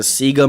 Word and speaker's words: Sega: It's pronounced Sega in Australia, as it was pronounced with all of their promotional merchandise.